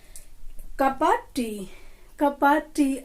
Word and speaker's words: cuppa: कप्पा। कप ऑफ होता है एक कप चाय, कप ऑफ टी। क्या बताया? कप ऑफ टी, तो वहां पर हम कपा भी यूज कर सकते हैं, कपा टी।